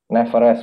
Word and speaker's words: Neverest: Neverest ya bacanya ya? Neverest ya? Neverest, betul, betul.